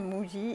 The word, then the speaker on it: Muji: Il me semble que c'est Muji.